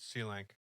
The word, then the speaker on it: Selank: Now read C-Lank. C-Lank. How do I spell that? SELANK.